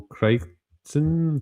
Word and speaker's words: Crichton: And one of the authors is Michael Crichton, that's how you pronounce it, the author of the Jurassic Park book.